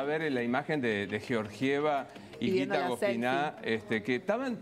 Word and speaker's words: Georgieva: negociación y yo georgieva hay que pronunciarla como corresponde georgieva es la titular no